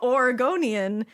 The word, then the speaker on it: Oregonian: Oregonian equals Oregonian.